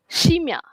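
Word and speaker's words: scimmia: So bila huruf S bertemu dengan C, it's pronoun as she. Ok.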